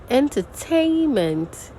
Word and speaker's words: entertainment: Entertainment, tay. And we have the secondary stress, entertainment.